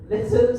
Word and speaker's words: Lytham: Lytham St Anne's?